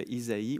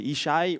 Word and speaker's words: Isaïe: Là peut-être dans vos versions, il y a Isaïe ou Jessé. C'est c'est juste une prononciation différente en hébreu. Isaïe c'est Ichaï ouit.